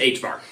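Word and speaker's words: ħ: And you pronounce it h bar.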